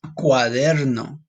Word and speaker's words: cuaderno: This one you have to roll your R a little bit. If you can't do it, no worries. Ready? This is cuaderno.